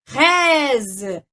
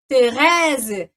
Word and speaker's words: Thérèse: Olha só, o agudo fecha, T, e o grave abre, Thérèse, Thérèse, tá? Então, é a mesma coisa quando eu falo, por exemplo, très bien, quando eu falo para vocês, très bien. Então, o acento grave, ele abre o som do E.